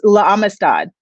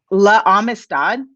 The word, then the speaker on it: La Amistad: like 6 times in school, and it was La Amistad. I don't know if you guys have ever heard of it. What is it called? La Amistad.